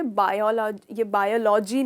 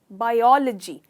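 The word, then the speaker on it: biology: ये बायोलॉजी नहीं है, इसका करेक्ट प्रोनाउंसिएशन है बायोलॉजी। तो इसमें आप स्ट्रेस करते हो ओ पर, ना कि ल पर।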